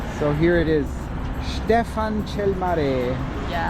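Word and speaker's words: Ștefan cel Mare: Stefan Chelmare. Did I pronounce it correctly?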